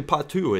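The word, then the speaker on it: Pato: you're pronouncing it wrong it's not Pau it's p or Pau uh but in Portuguese I believe it's actually Patu is the way it's pronounced so who's right who's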